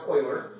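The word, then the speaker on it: Euler: what about O's notation it's pronounced Oiler and we we're using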